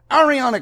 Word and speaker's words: Ariana: Ariana Grande is Ariana, goddammit.